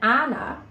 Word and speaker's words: Ahnah: And Ahnah, who is helping me here, rhymes with banana as well.